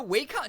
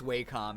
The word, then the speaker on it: Wacom: brand am I just Wacom is a wake-up no way it's way calm is it oh my gosh what the heck Wacom is the correct pronunciation okay thank you Father